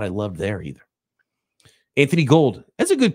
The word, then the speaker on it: Gould: It's actually Gould, probably, right? I think Robbie Gould is the only one that pronounces it Gold when it's spelled Gould.